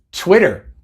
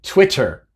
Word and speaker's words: Twitter: común en nuestros días twitter fuera no se dice twitter se dice twitter y